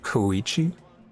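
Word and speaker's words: Kachina: it's kind of a long story so it's pronounced kichi it's not really my story to tell but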